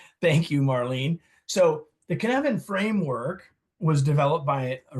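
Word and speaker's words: Cynefin: where we are right canvan it rhymes with Kevin everybody there you go thank you thank you Marlene so the Kevan framework was developed by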